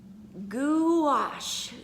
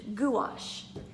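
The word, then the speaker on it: gouache: spelled it right on my paper and it's pronounced goulash goulash and it was a water-based quick drying paint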